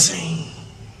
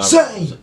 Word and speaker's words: Zayn: We got ZAYN. Till dawn. Dawn, yeah. Future see ya. Let's do it. I didn't know what to say. Yeah, ZAYN, ZAYN, all capital letters. Yeah, I know. ZAYN!